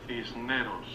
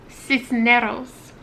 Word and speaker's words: Cisneros: So you pronounce the S, basically. Cisneros. I can't roll my R's. Cisneros.